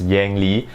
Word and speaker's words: Yang Li: before i start off i know many of you guys will be pronouncing his name as yang li which is perfectly fine but for me i'm singaporean and my amnesty is chinese it just sounds more natural for me to pronounce his name by his chinese pronunciation yangli so i'll be doing